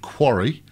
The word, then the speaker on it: Kwari: Now, this indie was for a game called Quarry, which you won't have heard of. It's spelled Kwari.